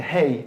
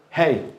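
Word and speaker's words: ה: it says in again it's the only letter in the Hebrew alphabet that is completely silent you do not use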